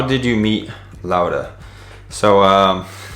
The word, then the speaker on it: Laura: So L-A-U-R-A, but the way Venezuelans pronounce it is Laura, which I think is very cool and very unique.